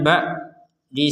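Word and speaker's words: بعد: Kemudian kita lanjutkan, di sini ada huruf ain sukun. Ain sukun kita bacanya ba. Sekali lagi ba, tapi jangan lupa, sekali lagi jangan lupa setelahnya ain ini ada huruf dot. Maka huruf dot ini harus kita baca juga walaupun harokatnya tidak terbaca.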